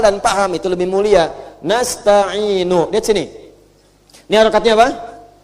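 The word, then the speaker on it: نستعين: Nasta'inu. Lihat sini. Ini harakatnya apa? Dhamma. Kalau kita wasal, maka ini panjangnya cuma 2 harakat. Ya, 2 harakat nih.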